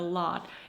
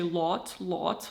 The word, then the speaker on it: lot: Also, I think I nailed the American a sound. Um, like in the word a lot, a lot. It is spelled with an O. And usually in cases like this, I would really tend to pronounce a I would try to say lot lot like this.